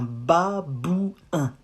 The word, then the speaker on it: babouin: Un babouin. Ba, bou, not bu, bou, un.